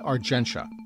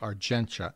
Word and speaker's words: Argentia: the second Summit meeting of allies was in Argenta yes that's the correct pronunciation it's spelled Argentia but it's pronounced arenta as I have been uh informed in no